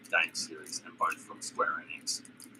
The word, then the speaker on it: Square Enix: series, and both from Square Enix. I pronounce it Square Enix, but I have heard people pronounce it as Enix, so that's more of your coffee.